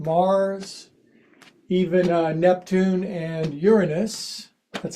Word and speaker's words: Uranus: Venus Jupiter Saturn Mars even uh Neptune and Uranus that's how you pronounce it Uranus is up there but you